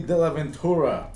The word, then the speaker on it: Dellaventura: special guest tonight anthony de la ventura i said it right right yeah all right cool dela ventura of the adventure in spanish which is awesome so